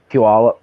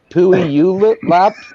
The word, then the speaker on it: Puyallup: what the heck did I get Ray say uh Puyallup I've been like I I used to live in Puyallup for a little bit and stuff like that I can tell because you know how to say it yeah not a lot of people with that yeah um whenever there's a new newscaster you can tell because they're like pooey you lit mop exactly all the